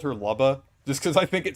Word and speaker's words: Lubba: transn I I always I always pronounced her name Laba cuz I think Loba sounds funny. I mean, I I know Luba makes sense because like Luma, but I I just